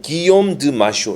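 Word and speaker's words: Guillaume de Machaut: 줄에 보니까 프렌치 프로빈스에서 프랑스식으로 읽는다면은 내가 뭐 불어를 잘 할 줄 모르지만은 기욤 드 마쇼 이렇게 읽어야 되겠죠.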